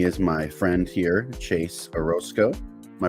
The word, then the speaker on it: Orosco: conversation joining me is my friend here chase orozco am i pronouncing your last name right yes sir right